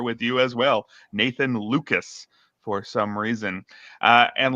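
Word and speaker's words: Lukes: And that's what Luke is providing against at least against right-handed pitching.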